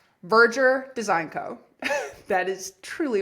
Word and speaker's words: Verdure: you, it is pronounced Virger. So, I want you to think of the word merger, M E R G- R. And just replace the M with a V. Verger. Verger.